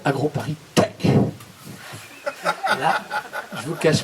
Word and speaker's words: AgroParisTech: Il a mal prononcé. Hein. Ça s'appelle AgroParisTech.